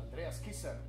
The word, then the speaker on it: Andreas Kisser: Did I pronounce that correctly? Andreas Kisser.